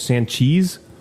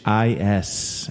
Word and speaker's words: Sanchis: You say his name was Sanchiz? With an S at the end. Sanchis, as in Sanchez.